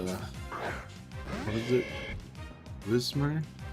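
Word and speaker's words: Whismur: Oh, there is a, what is it, Wismer? I think I've always pronounced it Wimser, and I'm just now seeing that I had the letters mixed around.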